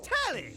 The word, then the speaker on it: Telly: The name's Telly. Telly? Rhymes with Nelly.